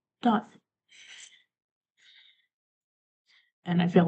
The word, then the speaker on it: Dott: So basically, my character, his name is Dot. I know, pretty unoriginal, right? But it's spelled D-D. Yeah, D-O-T-T. Dot Wolf.